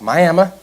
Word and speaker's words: Miami: go to Miami Oklahoma which is apparently that's how it's pronounced Miami sure it is I'm